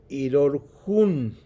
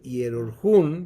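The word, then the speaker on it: ἱερουργέω: es muda, pero realmente en el griego no hay una H, y es la palabra irorjun, todo eso que está ahí escrito como hierurgeon, la raíz es hierorjun, ¿verdad? Así se pronuncia todas esas letras que están ahí.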